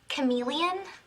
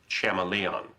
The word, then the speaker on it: chameleon: Um, Professor, uh, do you mean Chameleon? Betty, I'm pretty sure it's pronounced Chamalon.